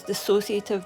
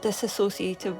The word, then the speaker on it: dissociative: there already from movies most people can't even pronounce dissociative they call it disassociative which is not the same thing there was if you